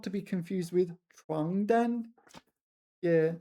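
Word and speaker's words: 床单: not to get here you need to really pay attention to your pronunciation because there's also 床单, 床单. This is bed sheets. 床单, 床单, and the other one was 传单, 传单, and they're completely different things, right?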